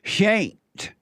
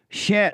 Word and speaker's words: Shant: It's actually Shant. Oh, it's not SHANT? It's SHANT. It's pronounced Shant. It's what? It's just it's just a cultural thing. I guess my name is spelled phonetically, so anyway.